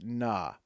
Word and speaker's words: Kna: Oh, we have a pronunciation guide. It's na.